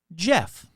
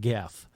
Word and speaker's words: Gef: It's spelled a dumb way. It's spelled G-E-F. But it's kind of like, GIF. Is it GIF or is it JIF? So I'm just going to say it's Jeff and not Geff.